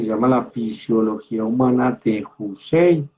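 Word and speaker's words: Houssay: la fisiología humana de Jusei. Fisiología humana de Jusei. Se escribe con H.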